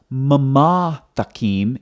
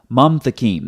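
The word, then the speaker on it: מַמְתַקִּים: So it's not mama takim, it's mam takim. That's why when you look at the transliteration over here, it's one syllable, mam, not mama.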